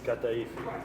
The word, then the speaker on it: kataifi: We got to make sure we pronounce this correctly. Kataifi.